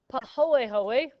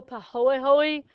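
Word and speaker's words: pāhoehoe: not too surprisingly no hang on this is po ho which is this nice smooth ropey uh looking um Lava Rock and then this one which is pronounced ah which is pointy and sharp so po hoy smooth and flowing looks kind of like taffy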